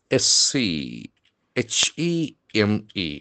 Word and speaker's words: scheme: Scheme is another beautiful noun s c h e m e. We can see the letter H doesn't have any sound here. That ch combination will give rise to coute single syllable scheme.